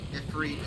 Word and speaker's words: Ifrit: Ifrit is the correct way to pronounce like the Yeah.